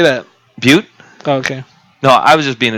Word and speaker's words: Butte: Butte.